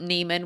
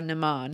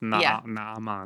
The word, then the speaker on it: Naaman: It I mean, if you remember that we're Lebanese, it makes sense because in Arabic that both the A's are pronounced. It's Nan.